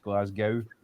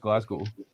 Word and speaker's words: Glasgow: three letters of glasgow gow so it gets mispronounced glasgow quite a lot but it's just glasgow um it's just lovely and then obviously we've